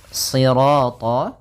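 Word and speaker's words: صراط: Kemudian pada lafal sirat ya kembali lagi di sini shadnya tebal jangan dibaca dengan huruf sin ya meskipun nanti ada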